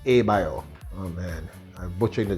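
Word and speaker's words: Abloh: The correct pronunciation is Abioth.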